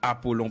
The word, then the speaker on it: Apollon: Bon, moi-même, encore une fois, moi, c'est Apollon. Apollon, ça s'écrit avec 2 L.